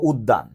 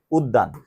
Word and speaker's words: উদ্যান: হ্যাঁ, যেমন এই যে দেখো উদ্যান, উদ্যান, তাহলে বলো তো জফলা কোথায় বসছে, মাঝে বা শেষে বসলে উক্ত বর্ণের কি হয়, দ্বিত্ব হয়, তাহলে এটা হয়ে যাচ্ছে হচ্ছে উদ্যান।